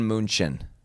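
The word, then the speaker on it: München: This is FT Bayern Munchin. That's the German pronunciation.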